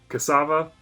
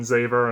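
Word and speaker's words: Xaver: reincorporated here was great i will be pronouncing tom cassava cassava cassava rather than zever i know that's how a lot of people have been saying it just cause being spelt with the x but the funimation subtitles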